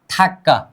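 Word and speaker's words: 닭: Double final consonant के नीचे दो लेटर्स आते हैं। दो लेटर आएगा तो भी घबराना नहीं है, मैंने कहा था दो लेटर आएगा तो भी कितने का उच्चारण होता है, एक का उच्चारण होता है। रग नीचे आ जाने पर हमेशा किस चीजों का उच्चारण होता है, क। क्या, क मतलब इसका उच्चारण क्या होगा, थक।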